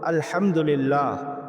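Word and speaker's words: الحمد لله: সমস্ত প্রশংসা আল্লাহ পাকের এখানে যে হা উচ্চারণটি সেটি গলার ভিতর থেকে আসে আর সেই হা টা যদি আপনি উচ্চারণ না করে মুখ থেকে হা উচ্চারণ করেন সে শব্দের অর্থ দাঁড়ায় সমস্ত ছেড়াফাটা নেকরা।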